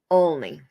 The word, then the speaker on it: Olney: way they're pronounced um it's Olney it's pronounced only and there was uh